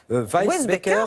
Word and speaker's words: Weissbecker: allons parler de laura alors comment ça se prononce weisbecker tout simplement beckers peut-être que ce nom ne